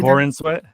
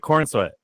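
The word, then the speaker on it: Corenswet: Because I've been saying David Corn Sweat. Like corn sweat. No, Corin. Corin Sweat.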